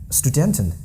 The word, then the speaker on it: Studenten: So student the specific rule that st at the beginning of a syllable or word is always no exceptions.